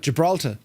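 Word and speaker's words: Gibraltar: how do you pronounce jalter usually people from Ming pronounce it you can't hear the or so they just call it jalta yes getting to jalta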